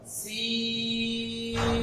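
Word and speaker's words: س: তা আমি এখন বলছি এটাকে, যেটার তিনটা মাথা আছে, উপরে নুক্তা নেই, উপরে নুক্তা নেই, এটার নাম হলো সিন। একটু দীর্ঘ করে লম্বা করে করতে হবে।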